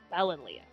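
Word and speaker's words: Ballonlea: I've been saying it wrong this entire time. And I'm gonna go with the double L as in ballet. Balinlea.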